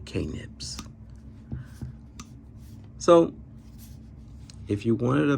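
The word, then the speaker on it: Knipex: these they don't and i do know you pronounce it kanepex but i like to say k-nips so if you wanted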